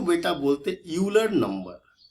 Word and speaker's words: Euler: तो इसको बोलते हैं यूलर नंबर। ये जो नंबर है ये बड़ा ही खास है, ठीक है। स्पेलिंग देखिएगा, EULER है, EULER है।